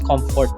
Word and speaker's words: CMFT: So yun siya ah from the word cmft it's it's pronounced as comfort no so ano yung mga